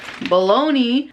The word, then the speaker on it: bologna: i got some bologna which i just recently found out that in spanish and i guess italian baloney is still spelled like this even though it's an a i'm not gonna wear it it should be bologna and if it's gonna be baloney it shouldn't be spelled with gna am i the only